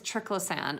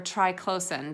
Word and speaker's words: triclosan: anchor on though is triclosan or try closin depending on how you hear people pronounce it because this is